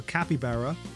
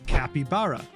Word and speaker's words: capybara: When introducing them, they weirdly stuck with the Brazilian Portuguese pronunciation. Capybara, right? Capybara sounds so cute.